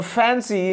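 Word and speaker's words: fancy: यहां बताया गया है, तो फैंसी यहां भी स उच्चारण हो रहा है।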